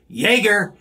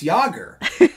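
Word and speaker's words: Jágr: of round one where the national announcer keeps saying Jaeger Jaeger on the puck Jaeger scores and people are like what it's yogurt um I'll out myself I definitely thought it was Jagger when I first moved here Jagger was one that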